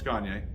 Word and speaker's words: Gagne: No, it's Gagne. Oh, Gagne. Okay. Okay. That's why I asked. All right. Cool. If you can't pronounce it that way, think of Kanye, but Gagne.